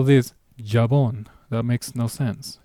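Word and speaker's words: jabón: Technically, the J sounds more of an H. Or arguably for some people, depending on the country, it might sound as a soft G.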